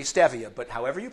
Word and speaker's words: stevia: health food store because everybody pronounces it stevia but since it's a botanical and it's named after the stevia robotiana plant it is actually stevia but however you pronounce